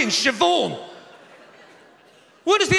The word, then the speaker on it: Siobhan: there's no v in siobhan what is the h go then it goes after the b obviously are you talking about bh is pronounced v no it's not love